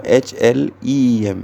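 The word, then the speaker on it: ह्लीं: तो जैसे हम लोग रीम बोलते हैं ना, HREEM, यहाँ रीम नहीं है, यहाँ HLEEM है, लीम है।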